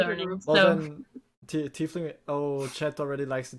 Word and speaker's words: tiefling: Like I don't know if I'm pronouncing it right. Tiefling. Yeah, Tiefling, yes.